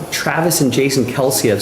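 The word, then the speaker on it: Kelce: I feel like Travis and Jason Kelsey have said that their last name is actually pronounced Kels. But people have just said Kelsey since their college days, and they've never really corrected anybody.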